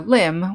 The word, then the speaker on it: limb: over here we have some words that have a silent b at the end of a word after the letter m such as comb or lamb the animal or a limb which means an arm or a leg so let's talk just